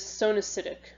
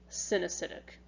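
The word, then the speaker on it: coenocytic: the acetate hyphae is sewn acidic actually i'm sorry that's synesthetic so these you spell it c-o-e-n-o-c-y-t-i-c but you say it sin acidic um so you know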